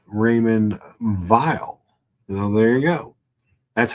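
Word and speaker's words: Raymond Weil: the layout Simon well d d says it's pronounced Raymond vile now there you go that's how little people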